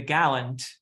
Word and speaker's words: Gallant: yeah it's fun yeah that's great is it Galant is it how do you say it well I mean I was saying the Gallant Gallant yeah that's right Gallant but but I think you're pronounced you're pronouncing the the that musical uh